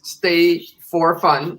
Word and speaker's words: Stefan: my name is stefan it's literally pronounced as stay for fun without the four i'd like for creating